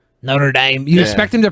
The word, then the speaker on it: Notre Dame: I guess it's like it's one of those things where like you pronounce it the way the people in that region pronounce it, I guess, and that's Yeah, how I'm people from in New Indiana.